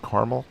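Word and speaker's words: Carmel: but we'll head north from deer park direct caramel apparently it's pronounced caramel but sort of like concord in concord 99%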